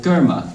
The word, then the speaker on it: karma: and the law of karma, or Gurma, as it's pronounced properly.